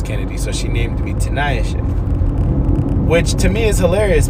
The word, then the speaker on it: Tinayeshe: Y'all got PHs that sound like Fs and silent letters and all this jazz. Tinayeshe.